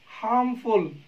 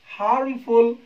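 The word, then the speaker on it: harmful: और दोस्तों एक और आपके लिए इम्पोर्टेंट कॉन्सेप्ट बता दूं कि जब अंत में एफ यू एल एक सफिक्स के रूप में होता है तो दोस्तों इसको फुल प्रोनाउंस नहीं करते, इसको फल पढ़ते हैं।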